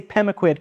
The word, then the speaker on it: Pemaquid: say bogwood or and I'm not even saying sure I'm pronouncing it right because the stress is on the first syllable and a slight Lil up on the last one right does that feel